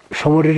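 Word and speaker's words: Tso Moriri: অবশেষে আমরা সমরের লেকের ধারে এসছি যার বানান টি দিয়ে শুরু এবং সুনামির মতন টি টা সাইলেন্ট দৈর্ঘ্য এবং প্রস্থ এখনো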